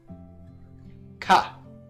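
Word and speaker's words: か: We pronounce these syllables the same way, but we put a ka, a K in front.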